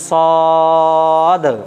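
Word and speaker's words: صاد: পড়েন সদ, সদ। তাহলে দেখেন এই অক্ষরটা উচ্চারণ করতে গেলে জিভের আগা নিচের দাঁতের আগায় লাগাতে হবে, উচ্চারণটাকে লম্বা করতে হবে, সর্বশেষে একটা দয়ে হসন্তর উচ্চারণ আনতে হবে।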